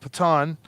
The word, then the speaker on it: Patton: Okay, so we'll move that Patan. He's probably going to go right Patan. there. I don't even know how to pronounce it. Patton.